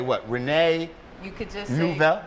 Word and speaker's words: Neufville: Neufville. Did I say it French enough?